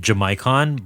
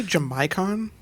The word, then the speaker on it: Jamaican: character named jamaicon but his name is spelled like Jamaican like a person from Jamaica did you say jamaicon jamaicon yes it's spelled j m a a i c a an it's spelled like Jamaican but they call him jamaicon I don't know why